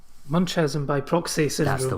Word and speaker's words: Munchausen: Uh I think the correct pronunciation is Munchausen. Munchausen by proxy syndrome.